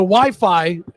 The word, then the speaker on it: Wi-Fi: called it I heard Wi-Fi. I was wrong. Well, most people are. They think it's wireless fidelity, Yeah. What is it? but they like that it rhymes with hi-fi, the people that invented it.